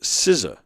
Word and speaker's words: SZA: Oh, it's pronounced SZA.